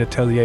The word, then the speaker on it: atelier: pronounced Lorianne's, and atelier is atelier.